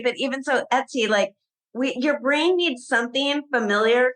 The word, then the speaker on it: Etsy: It's like Betsy without the B. But even so, Etsy, your brain needs something familiar to latch onto.